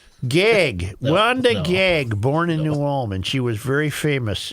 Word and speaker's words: New Ulm: You said it wrong. It's New Ulm.